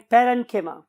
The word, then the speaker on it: parenchyma: तो बहुत से लोग इसे कोलेनकाइमा भी बोलते हैं, बट the true pronunciation is कोलेनकीमा एंड पेरेनकीमा।